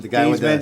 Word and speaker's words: Theismann: Changed his name from Theismann to Theismann. Oh, so that it would rhyme with Heisman.